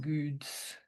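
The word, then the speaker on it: GOEDS: I call it goods. It's a It's a Dutch word for well and it's spelled G O E D S. So it's like goods and G is GABA.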